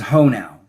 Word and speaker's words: Hoenow: My last name is Ho now, which is spelled Hoenow.